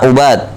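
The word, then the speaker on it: عُبَاد: Al-awwal bil kasr wa tasydidil muwahhada, Ibad, ya. Ibad, wasani bidham wa takhfifil muwahhada. Ibad sama Ubad.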